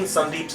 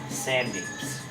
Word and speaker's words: Sandeep: So the pronunciation is exactly the same. Is both pronounced sun? Exactly the same. So there's four spelling possibilities: S-A-N-D-E-E-P, S-U-N-D-E-E-P, S-A-N-D-I-P, and S-U-N-D-I-P. They're all exactly the same pronunciation.